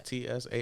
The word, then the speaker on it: Tsai: It's Tsai.